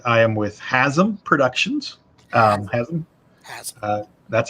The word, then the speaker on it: Hazzum: Hazzum. That's how you pronounce it.